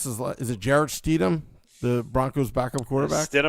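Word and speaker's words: Stidham: Um I don't know how to pronounce this. Is it Jared Steedum, the Broncos backup quarterback? Stum.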